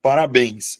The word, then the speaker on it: parabéns: Vamos separar aqui, ó. Para bens. Beleza? Então, eu vou acentuar porque a sílaba tônica tá na última sílaba da palavra.